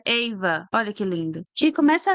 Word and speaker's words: Ava: Sim, se pronuncia Eva.